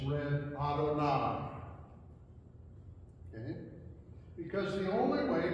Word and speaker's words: Adonai: In Hebrew, it's read Adonai.